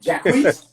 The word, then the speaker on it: Jacquees: I know you're working with I fuck up names, but Jacquees.